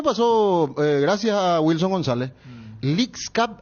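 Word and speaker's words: Leagues Cup: Gracias a Wilson González leak Cup así se pronuncia leak Cup y es el que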